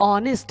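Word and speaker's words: honest: तो साउंड्स हम देखेंगे, अगर मैं हिंदी में देखूं तो यहाँ पे इसका जो मीनिंग प्रोनाउंसिएशन निकल रहा है वो ऑनेस्ट है, क्या है, ऑनेस्ट।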